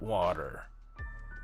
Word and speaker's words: water: This word, in American English, we say water, water, water, okay? This T is like an R, water, water.